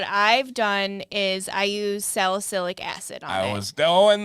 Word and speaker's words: salicylic acid: Salicylic acid. Salicylic acid.